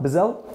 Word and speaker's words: Bizzell: And today I'm sitting here with our client, Bizzell, Bizzell? - Exactly. - That's how you pronounce it?